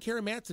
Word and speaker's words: Kara Matson: Well, she's my friend Kara Matson, and she's doing an amazing job here in the Wichita area.